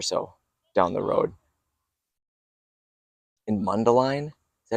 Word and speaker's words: Mundelein: In Mundelein? Is that how you pronounce it? Mundelein? Mundelein, Mundelein, Illinois.